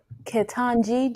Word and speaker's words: Ketanji: come on say that name one more time ketanji just in case you know a few folks didn't know how to pronounce it jackson she might be our cousin